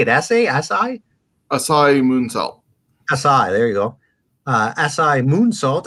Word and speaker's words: Asai: Asai, there you go.